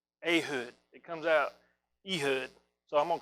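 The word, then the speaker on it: Ehud: we're going to talk about a guy it looks like his name is e-hud but actually it's pronounced a hood and i can't say it a hood it comes out e-hood so i'm gonna call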